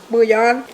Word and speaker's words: bouillon: Bouillon.